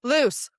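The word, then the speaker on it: Luce: We I listened to a lot of it and so every time they said Lucy, I was like wrong, wrong, loose.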